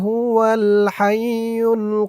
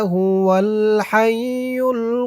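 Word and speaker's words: هُوَ الْحَيُّ: এই হামজার উপরে জবরটা বাদ যাবে। মানে হামজাটাই বাদ যাবে। হামজার উচ্চারণটা হবে না। ওয়াও দিয়ে সরাসরি এই লামকে ধরবে। হুয়াল হাইয়ুল এমন উচ্চারণ হবে।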